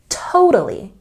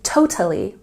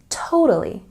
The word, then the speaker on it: totally: And for this word, we put a stress on the first syllable. The middle T sound in this word is softer. It's a bit more like a D sound. So let's practice with stress on the first syllable. Totally. Did you hear the D sound? I'm not saying totally. I'm saying totally.